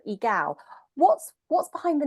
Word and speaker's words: Egal: We wanted to really talk about this, and apologies, I actually pronounced it incorrectly. So Egal.